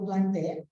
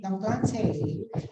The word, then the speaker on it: plantae: Ang tamang pronunciation daw ng plantae ay plantae, no? Yan, yung AE daw ay E lang talaga, no? According to classical Latin, no?